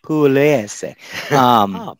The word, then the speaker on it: Pugliese: I don't know if the G is silent, so we're gonna have to Pugliese, Pugliese. Yeah, they very, very soft G, I think. Pugliese.